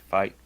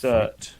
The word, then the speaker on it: Feit: How do you pronounce that? Fight. It's Fight.